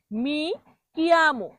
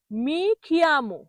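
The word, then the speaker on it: mi chiamo: এটাকে ভুল যখন বলে তখন বলা হয় মি খিয়ামো। এই কিয়ামোকে বলে খিয়ামো। কয়ের জায়গায় যদি খ উচ্চারণ করে তাহলে কি ভুল হয়ে গেল না? জোর বেশি লাগে। খিয়ামো হয় না, কিয়ামো হয়। সঠিক হলো মি কিয়ামো।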